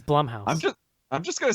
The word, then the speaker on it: Blumhouse: 50 seconds later, it's Blumhouse.